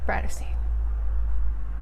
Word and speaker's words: Tarteist: If you've never been here before, hello, my name is Brittany and my channel name is pronounced TARTEIST.